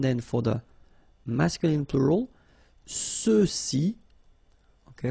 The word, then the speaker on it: ceux-ci: for the masculine plural, ceux-ci, okay, remember final X is not pronounced, so you get the sound ce, ceux-ci, and then ceux-là.